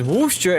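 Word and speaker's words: Worcester: Locals pronounce Warcaster as Wooster and Glouester as Glouster.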